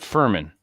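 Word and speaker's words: Firmin: uh Sam Savage called Furman f-i-r-m-i-n rhymes with Vermin because the book is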